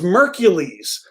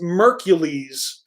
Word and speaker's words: Merkules: listen to him um it Rhymes oh okay it rhymes with Hercules so it's merkules oh thank you ninja with the pencil coming through the pronunciation so it's mercules featuring Bone Thugs-N-Harmony thank